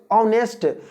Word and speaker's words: honest: क्योंकि जब H ऑनेस्ट, H को हो नहीं पढ़ते हैं, हॉनेस्ट नहीं बोलते हैं, ऑनेस्ट बोलते हैं, H को ऑनेस्ट बोलते हैं।